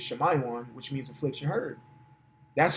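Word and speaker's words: שמעון: From the man Simeon, and how you pronounce it in the Hebrew is Shemayon, which means affliction heard.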